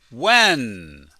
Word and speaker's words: when: When. We don't pronounce the H. We just say when.